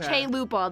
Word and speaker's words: chalupa: tell you never had chalupas. I would die, but I've actually never had a chance to try a chalupa. Chalupa. Chaupa. Chaupa. Chaupa. That's the American pronunciation.